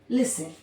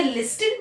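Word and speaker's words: listen: एक वर्ड होता है लिसन। ठीक है? क्या लिस्टेड बोलते हैं हम?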